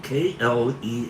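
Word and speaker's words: Klea: Terence McKenna's daughter, It's spelled K L E A. Not Flee, but Kle.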